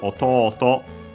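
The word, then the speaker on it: otōto: First and foremost, we have autoto uh which is the word for uh little brother uh accent on the last syllable.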